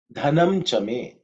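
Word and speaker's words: धनं च मे: next mantra, which is dhanam chame, dhanam chame, dhanam chame. In terms of pronunciation, the first letter is dha, which is the fourth letter in the tha varga, so it has to be aspirated, okay.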